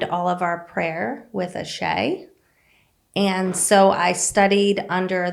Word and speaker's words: Asé: it definitely gets butchered it's a hard one to say a shay is actually an African word and what it means